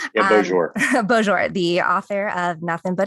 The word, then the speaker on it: Beaujour: right to be don to be joined by tom boshore no i messed that up yep okay i said it right yeah bonjour the author of nothing